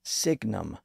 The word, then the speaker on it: sign: from the Latin word Signum which English writers had tapped for the word signal once again sign is the version that passed through French where it lost its G sound in the middle English borrowed the word